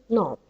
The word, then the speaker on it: knob: word together which is Knob of course the K is silent we don't pronounce the k okay it's noob so the word knob